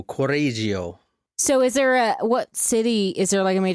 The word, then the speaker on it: Correggio: so good what part of Italy I can't pronounce it but um corio c o r r e g g i o corio so is there a what city is there